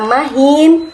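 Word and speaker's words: مهين: Nah, di sini ada dua kata yang pengucapannya itu mirip, yaitu kata mahin dan kata makin. Yang satunya memakai ha dan yang satunya lagi memakai huruf kaf.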